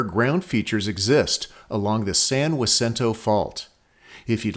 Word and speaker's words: San Jacinto: For the record, we have lived within 100 miles of Mount San Jacinto for more than 50 years, and in all that time, the way I'm pronouncing it is what we've heard most of the time.